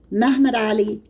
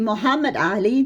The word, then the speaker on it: Muhammad Ali: and his powerful vassal, Mehmed Ali of Egypt. That's the Turkish pronunciation. You know, the Ottoman Turks, they don't really have an inclination to pronounce Arabic properly. So it should be Muhammad Ali, but never mind.